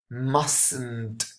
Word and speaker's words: mustn't: doesn't sound at all mustn't the the T here doesn't sound but here in the positive must okay here you really need to make an effort and pronounce the last consonant the last T so what you need